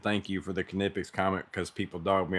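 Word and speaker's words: Knipex: why the pilot said um kipic says it's pronounced kipic it's like GIF versus GIF okay don't kill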